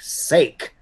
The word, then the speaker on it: sake: traditional japanese alcoholic beverage sake it's pronounced sake old man it's made with